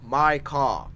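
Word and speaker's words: Mika: Right, I just meant the enunciation. He's like, my car. Got it. My car. My car. Micah, yes.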